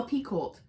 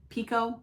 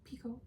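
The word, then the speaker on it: Picoult: P oh no way I PE cold the whole time no LRT Pico Pico really yeah there's no LT at the end it's like ends and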